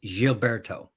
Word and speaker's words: Gilberto: So in Portuguese, the G is soft, so it's Gilberto.